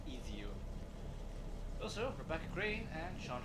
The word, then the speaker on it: Ezio: I do like how Desmond pronounces Ezio. It's Ezio.